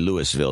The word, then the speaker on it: Louisville: otaku in Louisville Texas hey actually Louisville is the way they pronounce it there 2 3 4 5